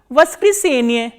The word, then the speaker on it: воскресенье: And how do you pronounce this word? Voskresenye, Voskresenye. So, Voskresenie is Sunday.